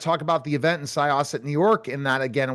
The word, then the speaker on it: Syosset: We've had such amazing guests and Syosset, New York, the big event and I'll talk about it in a bit.